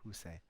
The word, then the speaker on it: Hushai: Last week we left off looking at David's friend Hushai. 지난주에 우리가 후세 다윗의 친구에 대해서 보았습니다. And how do you pronounce it? 후세. Hushai.